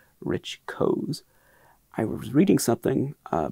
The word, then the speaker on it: Koz: spelled koz so i always thought it was cause but it's not codes it's pronounced codes rich codes i was reading something uh before i started